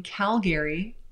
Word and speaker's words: Calgary: He highlights luxury listings in Calgary. Apparently it's not pronounced Calgary, it's pronounced Calgary in Canada.